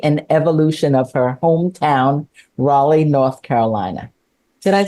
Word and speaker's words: Raleigh: with the history and evolution of her hometown Raleigh North Carolina did I say it right you